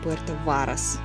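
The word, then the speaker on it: Puerto Varas: самое время уточнить что город называется именно Пуэрто Варас а у меня сильные сложности с ударениями пардоньте амигос ну что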